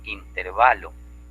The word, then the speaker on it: intervalo: Y lo correcto es intervalo, sin tilde, ¿ya? Entonces nosotros le tildamos, creemos que es esdrújula, y no es esdrújula, pues.